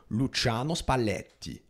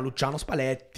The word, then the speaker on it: Luciano Spalletti: He can't roll his L's. Luciano Spalletti. He can't do that. Come si chiama? Si chiama Luciano Spalletti.